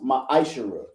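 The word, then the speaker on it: מעשר: 3 8 through 10 means 10th in the Hebrew and is pronounced my ishara ten percent of every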